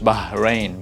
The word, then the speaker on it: Bahrain: to kuwait kuwait is so you notice it's not the h sound that you see in english bahrain ba it's ba with a all right so now